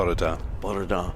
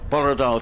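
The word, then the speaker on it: bore da: it is good morning how would you pronounce that b borar borar to you Duncan he says borar Nick and good morning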